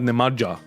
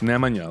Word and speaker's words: Nemanja: whatever like it's not it's not nemaja it's Nemanja like Jesus Christ so